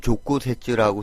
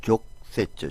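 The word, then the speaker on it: 直接: 우리가 직접 해주면 쓸 때는 족구세츠라고 쓰지만 발음할 때는 족세츠, 초금으로 발음해줘야 됩니다.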